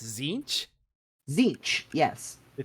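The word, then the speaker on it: Tzeentch: of Prospero eventually Prospero would be forgotten and zinch would welcome into his court the planet of sorcerers and Magnus the red as its demon king that's how it's pronounced zinc zinc yes the t is silent things I'm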